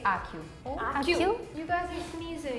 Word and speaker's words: Accio: I think the only different one was Brazilian, the pronunciation. Alohomora. Alohomora. Alohomora. Alohomora. Everybody. So the third spell, in French, we would say Accio. So for this one, in America, we would say Accio.